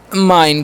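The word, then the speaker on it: mine: एम आई एन ई तो इसे मिने नहीं पढ़ना है यहां पर भी आई का न क्या करना है आई और लास्ट वाला काचा नहीं करना है सेम ए वाले की तरह ठीक है तो इसे हम पढ़ेंगे माइन क्या पढ़ेंगे माइन माइन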